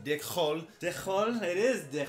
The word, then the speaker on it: DIKHÖL: i wanted uh we better got this movie pronounced dick hole to hole it is dick hole all right